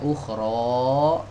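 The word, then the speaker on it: أخرى: Pokoknya di atas hamzah ini ada domah, bacanya ukhro dipanjang.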